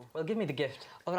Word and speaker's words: Gift: It's exactly the way it's pronounced as well.